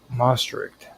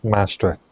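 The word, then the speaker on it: Maastricht: Um now out of these dynamics emerged the Mric treaty and I probably mispronounced that the Most Treaty in the early 1990s uh which formally established the European Union. Okay. Oh, Mastrict.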